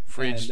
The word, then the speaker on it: Fridged: Frigid, and as I said, Frigid is spelled Fridged, like that?